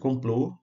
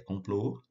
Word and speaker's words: complô: fechado da vogal então o caso de complô né não é compl pló é complô então sílaba tônica vai